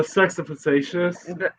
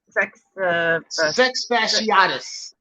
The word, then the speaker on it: fasciatus: The Sexafacious. That's what I thought. I think they call them the 6-barred cichlid. Yeah. They're getting so big, and they're beautiful. Our sex. Yeah. Sex fasciatus.